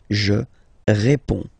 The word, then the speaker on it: réponds: Okay, so you can see that D and S here are not pronounced. Je réponds. Okay?